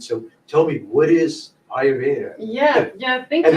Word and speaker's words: Ayurveda: So tell me, what is Ayurveda?